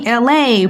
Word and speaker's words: LA: It's me, LA, pronounced like LA like the city.